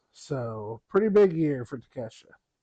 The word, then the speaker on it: Takeshita: Yes, Takeshita.